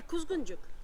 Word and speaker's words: Kuzguncuk: Kuzguncuk or Kuzguncuk? He, Kuzguncuk. Kuzguncuk. Ok, Kuzguncuk. Teşekkür ederim. Rica ederim. Voilà. Kuzguncuk.